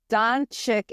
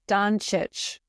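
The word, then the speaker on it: Dončić: pronouncing everyone's names wrong Hannah says donic is pronounced donich donich okay not donic Don similar to yic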